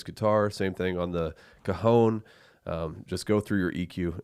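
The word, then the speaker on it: cajón: So I'm just glad I said it right, because I usually say cajon or something like that. And Dylan's like, that's not how you say it.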